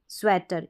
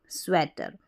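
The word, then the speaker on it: sweater: है स्वेटर स्वेटर ए स्वेटर इ ए को ए के रूप में ए या ए स्वेटर स्वीटर नहीं पढ़ेंगे इ ए को बड़ी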